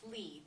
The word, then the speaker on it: Lei: english pronunciation it's pronounced li but in the cantonese way of saying it's actually lei which is spelled l-e-i okay so so we